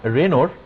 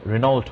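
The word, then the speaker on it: Regnault: ওকে, তো এটাকে আমরা রেনোর, এই যে সায়েন্টিস্টের নাম হচ্ছে রেনো, এটাকে ইংলিশে উচ্চারণ করলে রেনল্ট হয় আর কি, আসলে রেনো তার চাপ সূত্র বলা হয়।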